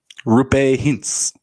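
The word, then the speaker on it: Roope Hintz: Rupe Hintz.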